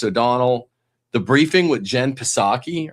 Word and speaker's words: Psaki: The Briefing with Jen Psaki, or Psaki if you don't pronounce the P.